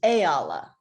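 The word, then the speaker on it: E'ala: pronounce your first name for me is it Ayala very close it's Ayala hey Allah okay I wanted to make sure that I pronounced that completely correct I don't want to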